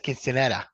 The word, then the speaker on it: quinceañera: I say quinceanera. He says quinceanera. right, because he knows how to pronounce it correctly.